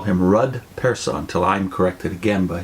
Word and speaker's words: Rud Persson: Witness whose name is Ruud person Vivian warned me not to pronounce his name rude person yeah she has Swedish